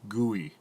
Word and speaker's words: GUI: part of the GUI a graphical user interface pronounced GUI basically when we use